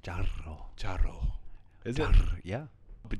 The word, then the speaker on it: charro: It's actually pronounced charro.